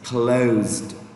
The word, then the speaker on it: closed: Although this one is letter S, but if you pronounce it, there's a vowel O plus S plus E, it becomes Z. So that's why it becomes closed, closed.